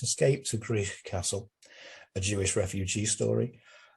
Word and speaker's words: Gwrych: It's Escape to Gwrych Castle, a Jewish refugee story, published by Calon,